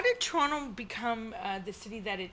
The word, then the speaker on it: Toronto: And in Mohawk, and forgive our Mohawk listeners, Toronto, I think it's pronounced with a K, means sticks in the water.